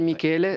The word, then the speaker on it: Michele: Oui, Michel, moi, je m'appelle Michele. Ouais. Michele, ça se prononce vraiment Michele. Ici, on m'appelait Michel quand je suis arrivé, même sur la boîte à lettres.